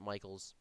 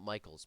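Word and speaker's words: Michels: I've some people pronounce it Mickles. I've always heard it Michaels, so I'm gonna call it Michaels.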